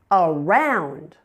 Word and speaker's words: around: Around. around. Now, the second syllable is the primary stress syllable. Round is louder and longer with a clearly understandable vowel sound.